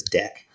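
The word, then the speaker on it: deque: thing called a u DQ or double-ended Q uh some people I've heard them pronounce this deck but I think it's DQ or double-ended Q uh but that is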